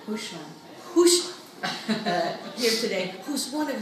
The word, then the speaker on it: Hooshmand: Is that pronounced right? Hooshmand.